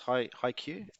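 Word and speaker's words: Haikyu: you guys seen uh is it was it pronounced High Q yeah I hate you yeah I've seen the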